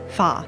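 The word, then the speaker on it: 花: is pronounced ha however the animated film uses the Cantonese pronunciation of her family name Fah her name might originate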